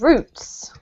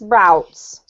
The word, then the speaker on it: roots: This one here is roots. Roots. Yep. That's with a British accent, actually. If you pronounce this American, it's routes. So just be aware of that.